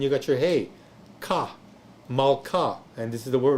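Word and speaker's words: מלכה: got your hey, ka, malka, and this is the word right here, M-A-L, then K-A-H, long A, malka, and that again is your Hebrew word that demonstrates a silent shewa.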